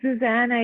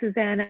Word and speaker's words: Zuzana: It can be Zuzana, it can be Susanna, it doesn't matter.